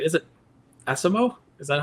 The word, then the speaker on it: ASIMO: so, so the Japanese pronunciation is Ashimo, all right? Ashimo. But yes, I think most of us call it Asimo.